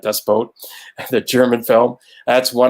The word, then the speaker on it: Das Boot: Das Boot, excuse me, I said it right, Das Boot, the German film.